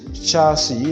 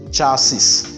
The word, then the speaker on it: chassis: adopted in english language is ch other pronouns as sh because as our french pronounce it so we don't say chef we say chef we say shifon we say suffer sachet and you say sashi so this is chassis not chassis and then the next one